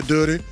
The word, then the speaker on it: Dutty: I Y'all know if y'all listened to the show, I used to pronounce it dirty. I don't know why. I think I was listening to at Aliens or something from Atlanta back in the day. Yeah, Dutty.